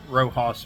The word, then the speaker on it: Roxas: that, you can go to Rojas Market. It's spelled Roxas Market.